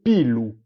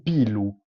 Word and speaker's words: pilu: belo o i belli, ma in un sud dell'isola si dice u pelo. Allora, io ho già preso questa parola perché è appena speciale. Come ho già detto, in un sud dicono u pelo. Pelo, se pigliate a parola latina, a parola latina di pilum. Pigliate a M, a buttate via e avete pillu.